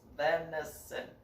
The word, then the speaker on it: venison: Venison. 3 syllables. Venison.